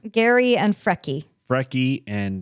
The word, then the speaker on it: Geri: Gary and Freki. Freki, and the other's named Gary. It's meow. it's spelled Geri.